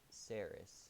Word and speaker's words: Sarris: the most sense yeah when i typed it originally it was supposed to just be saris like saris also everyone make sure